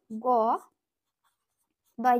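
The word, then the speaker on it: गद्य: যেমন হচ্ছে আরেকটা উদাহরণ ধরো গ দয় জফলা, এটা আমরা বাংলায় কি বলি? গদ্য বলি, এটাকে তাহলে হিন্দি থেকে উচ্চারণ করব, ইয়া উচ্চারণ হয় জফলাটা গদ্যা, কি বলবো?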